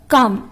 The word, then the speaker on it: calm: First காம். இது நம்ம எப்படி ஸ்பெல் பண்ணுவோம் அப்படின்னு பார்த்தீங்கன்னா CALM. பட் நம்ம ப்ரொனவுன்ஸ் பண்ணும்போது L சைலண்ட்ல இருக்கும்.